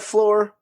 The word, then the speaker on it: Flore: That's lore with an F at the beginning. So it sounds like floor, but it's not the floor you're thinking because it's our floor.